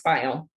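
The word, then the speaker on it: Pfeil: last name is spelled p-f-e-i-l and it's pronounced file yes so look for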